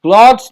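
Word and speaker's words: clothes: They are নট মাই ক্লোথস, ক্লথস না, উচ্চারণ হচ্ছে ক্লোথস।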